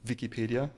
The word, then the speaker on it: Wikipedia: like the letter V because in German we pronounce it Wikipedia obviously and my goal was to create a